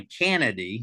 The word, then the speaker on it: Canady: uh so I we I go by canedy like Canada but with a Y but here's the interesting thing my mother was a Kennedy my father was a canedy I'm from the south